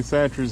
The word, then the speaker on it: Chachere's: And 3 or 4 lake houses down was Tony Chachere's himself. And I met his kids out there fishing. And I asked them, how do you say your last name? They said Chachere's.